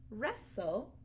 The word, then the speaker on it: wrestle: Those are all examples of ghost letter WR. You only hear the sound. So again, it's tricky because you need to remember that there's a silent W at the beginning.